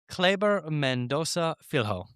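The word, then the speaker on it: Kleber Mendonça Filho: I I think it's a soft C, but I also don't want to say it because I will get those I'll get those comments, too. Clayber Mendoza Filho. I'm going to say it like that.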